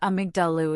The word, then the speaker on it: amygdala: The amygdala, pronounced amygdalu, is a small almond-shaped cluster of neurons sitting deep inside the temporal lobe of your brain.